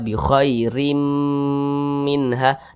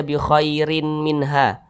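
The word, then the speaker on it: بخير منها: Tanwin berjumpa dengan huruf mim. Perhatikan di samping huruf mim termasuk kepada huruf idgham bi gunnah. Nah, maka ini hukumnya idgham bi gunnah. Cara bacanya itu dengan cara dimasukkan kemudian berdengung. Apanya yang dimasukkan? Maka baris tanwin ini langsung dimasukkan ke huruf mim. Jadi dibaca bi khairim minha. Jangan dibaca bi khairin minha.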